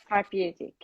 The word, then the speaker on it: therapeutic: again, Therapeutic. therapeutic. Therapeutic. Therapeutic. It's the first syllable. I'm telling you.